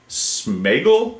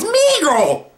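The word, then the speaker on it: Sméagol: On line number 5, we have Smegel, is it? Am I pronouncing that right? It's Smeagol.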